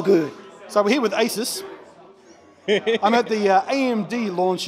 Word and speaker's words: ASUS: Asus sorry Asus as ASUS ASUS ASUS is apparently the official proper way to pronounce it unlike me who's been spending the last decade and a half saying Asis it's okay blun there